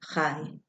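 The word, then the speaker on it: חי: The Hebrew and Yiddish word chai means both life and the number 18. It's pronounced like you're clearing your throat and saying hi at the same time.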